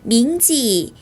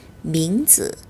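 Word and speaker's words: 名字: 그래서 밍지가 아니라 밍즈 밍즈라고 발음을 하셔야 합니다.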